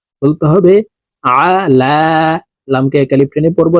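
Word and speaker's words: عَلَى: আলা আল্লাহুম্মা সাল্লি আলা আইনকে হালুকের মধ্যখান থেকে চাপ দিয়ে উচ্চারণ করতে হবে কারণ আইনের মাখরাজ হালুকের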